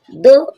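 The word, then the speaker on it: though: दो, दो मीन्स हालांकि, दो मीन्स हालांकि।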